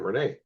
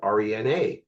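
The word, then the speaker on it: René: that's a girl's name, Renee. And they said you spell it re na. That's exactly how you spelled it. It's re na with an accent mark, bro.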